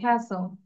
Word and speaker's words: castle: আমরা টি উচ্চারণ করবো না, castle.